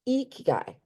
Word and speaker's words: ikigai: Going to help you learn how to pronunciate it. It's ikigai, okay?